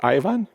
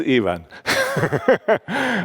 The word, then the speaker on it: Ivan: sketch contrast between even is it pronounced even in these parts of the world or Ivan from brothers Karamazov? It is even. Uh okay. So, so for you uh it will be Ivan for uh between Ivan and